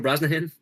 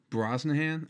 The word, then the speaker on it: Brosnahan: Rachel Brosnahan. Brosnahan.